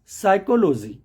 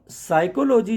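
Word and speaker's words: psychology: ही famous word है साइकोलॉजी तो साइकोलॉजी जो वर्ड है उसमें पी और एस का कॉमिनेशन है पी एस अगर एक साथ लिख के आता है तो आपको पी को उच्चारण नहीं करना है डायरेक्टली आपको उच्चारण करना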